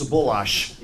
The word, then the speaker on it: Sabulash: They said about pronouncing his name right, where we grew up, it was Sabulash. That's the way you pronounce that name.